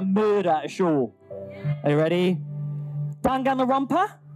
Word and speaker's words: Danganronpa: Danganronpa? Dangarumpa. Dangarumpa. It's the Geordie in me. So from Danganarangarangaloo, we have Zach and Chloe as Junko and Makuro. I've got to say, Danganronpa is my favourite anime, TV show, or game,